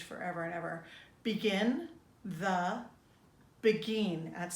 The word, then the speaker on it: Beguine: Begin the Beguine. That's spelled B-E-G-U-I-N-E.